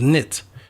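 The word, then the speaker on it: Neith: the goddess who was the way you pronounce her name was knit and that's where you get the word knitting from from the the string people knit things together.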